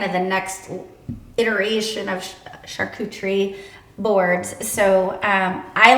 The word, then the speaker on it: charcuterie: pronounce it s-h-a-r Shar coup k-o-o tree t-r-e-e so charcuterie charcuterie people that don't know Mary was a teacher for Middle School kiddos Now history not English but hence the very detailed explanation of pronunciation right there I think I would have thrown another syllable in there I used to say charcuterie yeah I was like that kutari and so a shark who treat three syllables so keep saying it